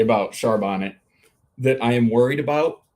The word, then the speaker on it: Charbonnet: that somewhere out there someone pronounces his name Char Bonnet I'll take that there exactly charbonne I'm sorry who yeah that there's that charbot he he's the same guy who orders A Philip mignon oh yeah I mean